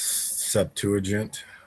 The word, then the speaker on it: Septuagint: Anybody help us with the pronunciation? Yeah, I don't know. I believe that's Septuagint.